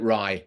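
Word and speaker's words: Righ: re everybody pronounces it Ry properties um just it's a Celtic word and normally or like an in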